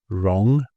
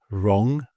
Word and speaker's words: wrong: So, I don't know, it says think of W here as a friendly ghost, always seen but never heard, as these examples show. Right, wrong, sword, answer, whole, and who. So right, wrong, sword, answer, whole, and who.